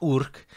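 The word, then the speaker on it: Yrch: there is a difference it's spelled y-r-c-h and it's pronounced urk and from that we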